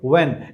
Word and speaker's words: when: यहाँ पे H silent है, आप सिर्फ कहेंगे व्हेन।